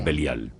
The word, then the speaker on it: Belial: entre ellos Satán y Belial. Belial es una contracción de dos palabras hebreas, Beli y Yaal. Beli yal, que nosotros pronunciamos belial.